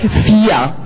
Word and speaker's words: vier: And here you have the long vowel, and you can pronounce this like vier.